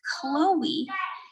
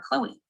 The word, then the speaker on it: Chloe: a separate vowel sound so here i have chloe the o represents o the e maintains a unique sound so this diuresis helps to signify that the e is pronounced in the word chloe in the word naive